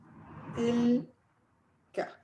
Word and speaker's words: تلك: تلك. Yeah, so if you want to say that student, you would say ذلك الطالب. If the student was female, you would say تلك الطالبة.